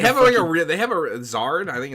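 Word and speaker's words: Xrd: Guilty Gear Zard got like They have they have a Zard. I think it's Exard, isn't it? It's pronounced Zard.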